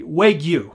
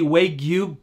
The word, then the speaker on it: Wagyu: I think that's how you say it correctly, Wagyu.